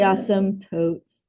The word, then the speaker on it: asymptote: The P's kind of silent except for that we say it wrong. It's supposed to be as totes.